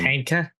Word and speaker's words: Ponca: It's pronounced Panka.